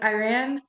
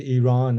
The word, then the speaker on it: Iran: what's going on in Iran what how did that what was the inspiration behind that song with everything that was going on yeah well we pronounced it Iran it's not Iran um but yeah um